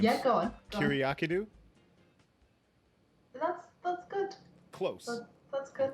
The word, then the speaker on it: Kyriakidou: Well, how do you pronounce it? It's Kyriakidou.